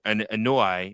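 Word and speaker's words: Anoa'i: And then also, uh ano an ano anoi, how do how do you say it?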